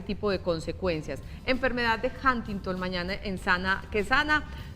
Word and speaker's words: Huntington: Sí, Huntington, como entre A y U.